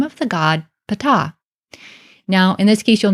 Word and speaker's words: Ptah: name of the god Ptah now in this case you'll notice in English I actually don't even pronounce the H really at the end here because I'm treating it